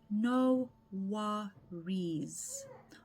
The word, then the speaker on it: no worries: Pronunciation tip, we say no worries. Almost like there's a zed in it.